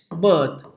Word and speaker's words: berth: Those kind of words, that kind of words can be pronounced in the same manner. That is called as homophones.